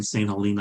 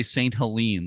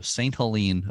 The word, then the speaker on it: St. Helena: But that's how GLLKA got involved with restoring St. Helena Island Lighthouse. Mm-hmm. Okay. From now on, I'll say St. Helene, the way you pronounce it.